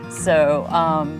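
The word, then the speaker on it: Sew: It's called So Fun Homestead, S-E-W Fun Homestead. So Fun Homestead, Yes. and so is spelled S-E-W.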